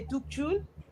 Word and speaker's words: Tukchun: Tukchun as in Tug, then Chun. Okay, I think Tukchun.